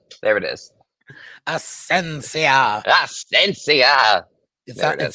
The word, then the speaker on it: Asencia: think about it we could land the ship asensia there it is asensia asensia it sounds almost like exelor exelor yeah